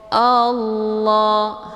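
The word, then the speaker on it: الله: lafdzul jalalah tafkhimun mufakkamun, yaitu lafadz Allah yang mesti dibaca tebal karena sebelum lafadz Allah berharokat fathah yaitu a. Jadi bacanya Allah, hamzahnya dileburkan ke dalam huruf la dengan cara ditekan dan bacaannya tebal.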